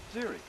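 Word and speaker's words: xeric: i c x e r i c that's pronounced Ziri it means a very dry habitat and that's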